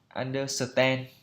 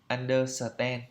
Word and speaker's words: understand: ấy, thì thường là chúng ta hay đọc cái kiểu phiên âm Việt Nam như là understand, understand, kiểu thế, under rồi ten, understand. Ok, như vậy là không đúng. Phải đọc đúng theo phiên âm là understand, understand, understand. I understand. Do you understand? Đấy, lên giọng understand.